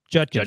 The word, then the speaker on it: Judkins: or am I saying it wrong is junkins Judkins right yeah yeah you had Jenkins Jun the